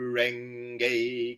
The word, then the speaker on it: Renge: Ren like the bird wren. Gi sounds like the word get without the T. Kyo, similar to myo. Each syllable gets one equal stress or beat. Nam myo ho renge kyo.